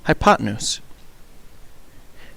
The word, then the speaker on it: hypotenuse: the hypotenuse is spelled hypo tan use and pronounced hypotenuse the other two sides of the right triangle